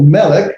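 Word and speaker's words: מלך: So, for example, melech, there's our word melech, the mem lambda, not lambda, lamed cough, final cough form. Notice it straightened itself out. Melech, it's pronounced with the caret in the first syllable.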